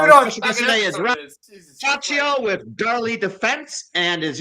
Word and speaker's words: Ciaccio: special guest today is Ciaccio with Darley Defense, and as usual, I'm here with Nick and Buddy. Ciaccio.